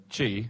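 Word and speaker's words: qi: Is chi, which is spelled Q-I.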